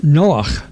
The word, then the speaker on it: Noach: Although English speakers call him Noah, his Hebrew name is Noach, pronounced Noach, related to the word Nachas.